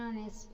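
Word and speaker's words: honest: Opposite of इट, अगर singular countable noun H से start हो बट उसकी प्रोनाउंसिएशन एच ना हो, उसके पहले एन लगाया जाता है. For instance, N आर, एन ए, एन एस, एन ऑनेस्ट मैन, N honourable man etcetera.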